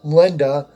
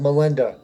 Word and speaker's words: Melinda: I said Linda. I should have said Melinda, because that's how they say it.